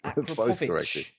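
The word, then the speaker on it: Akrapovič: But I was corrected very quickly that it's Akrapovic.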